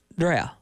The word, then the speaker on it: Dreher: the 50s or 60s, you call that Dreher. That's how it's pronounced.